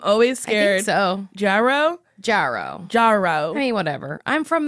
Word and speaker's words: Jarreau: I used to call you Jarreau, and then you said it, and I was like, ah, shit, I've been saying it wrong for so long.